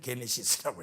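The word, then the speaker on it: γένεσις: 영어로는 제네시스라고 하는데 이것이 그리스어에는 게네시스예요. 똑같은 그 철자로 쓰는데 읽기는 게네시스라고 읽어요.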